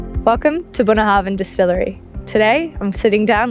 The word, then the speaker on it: Bunnahabhain: The pronunciation is actually quite good. It's actually Bunnahabhain.